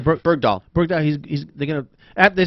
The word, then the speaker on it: Bergdahl: So this guy am I pronouncing his name? Bergdahl.